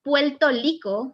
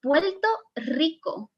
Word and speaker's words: Puerto Rico: you can see here it's not puerto lico it's puerto rico so when do they